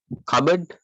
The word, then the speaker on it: cupboard: L is silent. Cupboard.